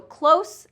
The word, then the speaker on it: close: Okay, so close is going to have that voiceless S sound, close, like you're speaking very close to me.